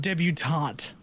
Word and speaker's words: debutante: Oh, and by the way, Matt, that word is pronounced debutante. Dubonte.